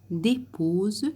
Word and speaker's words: déposent: Tes paupières déposent, le S entre deux voyelles se prononce Z, des larmes sur ton œil pour le nettoyer.